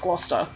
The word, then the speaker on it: Gloucester: it Chester Shire yeah it's just pronounced Gloucester right you take it off yeah you take out like half the letters that's strange yeah I